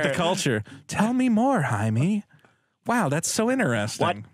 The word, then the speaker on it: Jaime: It's Jaime. It's Jaime. How do you say Jaime? Jaime. Jaime. No, Jaime. No, you've got to roll your R's.